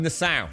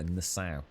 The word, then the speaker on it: Nassau: Oh, in Nassau. Oh, that was it. Sorry, Nazar, Nassau. Nassau. Is it? Yeah, Nassau.